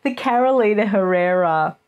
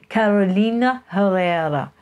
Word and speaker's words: Carolina Herrera: Carolina Herrera coat dress thing that Mega recently wore to